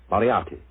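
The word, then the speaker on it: Moriarty: o r i a r r t y mariati mariati I shall remember that name I have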